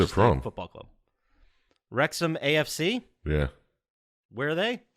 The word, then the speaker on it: Wrexham: Did you guys hear of the story behind the Wrexham AFC club?